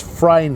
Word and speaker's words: Freyne: from the third race, it's it's Freyne is the way to pronounce that horse's name.